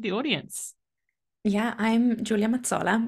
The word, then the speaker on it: Mazzola: audience yeah I'm Julia matsola which is the Italian way of saying it it's really Julia mazzola it's also um doable